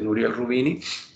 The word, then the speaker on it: Nouriel Roubini: nouriel roubini nouriel roubini así lo pronuncia nuriel rubini también habló con mucha